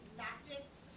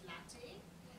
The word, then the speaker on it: LaTeX: It's not latex as it's spelled, it's pronounced as latte.